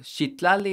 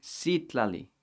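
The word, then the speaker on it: Citlali: them up okay so shitlally is actually sitlali with an s or c however you want to spell it but something that represents the s sound the sha does not represent the s sound okay if you're speaking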